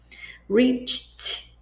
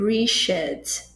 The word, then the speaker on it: reached: Reached também som de t, não vai ser richet, por exemplo.